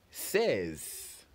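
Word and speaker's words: seize: meanwhile 16 is spelled which it says remember is spelled s e i z e says and after says we have 17 which is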